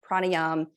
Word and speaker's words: pranayama: power of the breath pranayama you can pronounce it pranayama which is more how it looks when you look at the spelling and it depends on